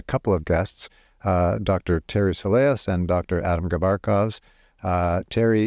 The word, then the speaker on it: Soleas: Soleas.